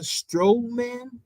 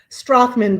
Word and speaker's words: Strachman: ladies her name is Krista strowman did I say it correctly strachman but I will use